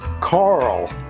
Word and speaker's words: Carl: I better pronounce that in American Carl, which is Carl. Otherwise I get Kyle or Paul when I go to Jamba Juice anyway.